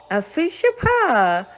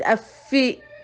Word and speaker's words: Afehyia: Remember, we don't slang. Don't say Afehyia. That's Afehyia. It's Afehyia. Afehyia.